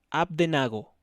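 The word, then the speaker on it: Abednego: y azarías lo llamó AB de nago abdenago porque tiene acento en la e a partir del versículo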